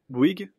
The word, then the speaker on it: Bouygues: Bouygues ?